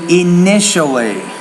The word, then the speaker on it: initially: meet or part is you want to say initially so the when you have the ti in the middle of a word it's usually an sh sound so initially acceptable but this is